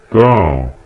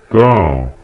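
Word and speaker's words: 桃: Второй тон – это когда звук идет вверх. Поднимается вверх, как в слове персик. Тао. Тао.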